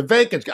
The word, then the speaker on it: Vivek: all the time the vacancy I know it rhymes with cake but Selena had already